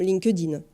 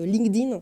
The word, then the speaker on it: LinkedIn: privé que professionnel comme linkedin je le prononce à la française que linkedin s'est un petit peu plus difficile donc linkedin le plus